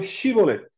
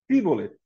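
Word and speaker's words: shibboleth: ordenando a eles, diga, eu quero atravessar o Shibolet. Shibolet. Ficava claro que ele era da tribo de Efraim. Se o pobre homem dissesse, quero atravessar o Shibolet, ou não, em vez do Shibolet, ficava claro.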